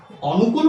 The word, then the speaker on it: অনুকূল: কিন্তু আসলেই কি আমরা অনুকূল বলবো? না এই শব্দটির শুদ্ধ উচ্চারণ হচ্ছে অনুকূল। শুদ্ধ উচ্চারণ কি? অনুকূল। অর্থাৎ আমি লিখেছি অ। কিন্তু আমি উচ্চারণ করতেছি ও। তাহলে এখান থেকে একটা জিনিস স্পষ্ট প্রতিয়মান যে অ এর উচ্চারণ কখনো অ এর মত, কখনো ও এর মত।